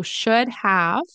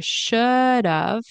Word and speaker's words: should have: should have okay so should have turns into should have which is pronounced like should of you might see people